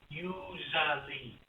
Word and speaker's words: usually: The sound z, usually, usually, usually, usually, usually, right? Usually. But we have to memorize. Here. Usually, usually. Usually. Usually. This one, the S, is spelled with S, but the sound Z.